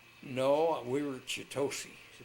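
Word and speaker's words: Chitose: No, we were chitosi. Chiosi.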